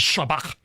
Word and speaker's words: shabbak: regular s and so anytime there is a word in any Semitic language that has a sh sound and there's lots of them and they want to try to pronounce that in Greek they write s instead of shu because it's the next closest thing okay okay